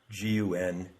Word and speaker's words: gunwale: And that's called the gunwale. Gunwale. W-A-L-E. It's pronounced gunwale.